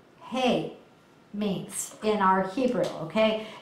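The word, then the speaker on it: heh: you what that letter hey means in our Hebrew okay and usually it's spelled h-e-h but you say it just like hey that you feed an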